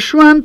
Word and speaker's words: Jouin: Podemos aclarar que se escribe Jouin, ¿no? O sea, lo aclaramos Juan, por si alguno Juan, lo quiere googlear.